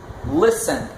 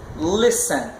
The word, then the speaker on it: listen: aplica a regra geral, como por exemplo, listen. Escuta só, listen. A sílaba tônica está lá no início, no lis.